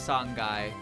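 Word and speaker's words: 三階: But then sanghai becomes sanai because it does.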